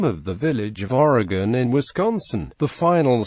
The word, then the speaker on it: Oregon: For example, the final syllable of Oregon is pronounced like the word in by residents of that state in the United States. While in the name of the village of Oregon in Wisconsin, the final